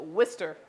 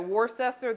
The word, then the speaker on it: Worcester: call the town spelled w-o-r c-e-s-t-e-r they call it Worcester and that always confused me so this first part that looks like War sister they pronounce it Worcester in Massachusetts so Worcester Shire sauce